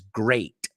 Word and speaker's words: great: little pronunciation tweak there you said greet and it's great right just be careful with how you pronounce the word great but all in all